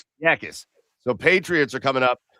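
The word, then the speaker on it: Jacas: Yakis.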